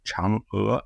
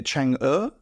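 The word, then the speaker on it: 嫦娥: The name of the Chinese moonlander program is pronounced Chang'e, not Chang'e, because that's the place in Singapore, but it's pronounced Chang'e, like an ER with an upward inflection.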